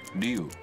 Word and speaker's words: Ryu: Like the character name from the Street Fighter 2, you know, Ryu. Right. Is a Ryu, right? Right. Ryu in English and Ryu in Japanese.